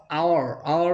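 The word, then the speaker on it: hour: এখন বলতে পারেন যে স্যার এই ওয়ার্ডটা তো ভাওয়াল না, এইচ অথবা আওয়ার মানে হচ্ছে উচ্চারণটা HO এর মতো হচ্ছে আর ওটা হচ্ছে কি ভাওয়াল, এই ক্ষেত্রে অ্যান হচ্ছে, ক্লিয়ার।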